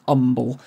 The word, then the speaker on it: Humble: called Umble in Texas spelled humble pronounced Umble and he became the